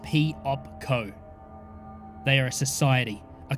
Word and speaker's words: Piopco: They are called Piopco, pronounced P-op-co.